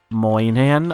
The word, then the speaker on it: Moynihan: We had Bobby Moynihan, I believe it's pronounced, playing King George, and John Hamm playing Mayor Jerry.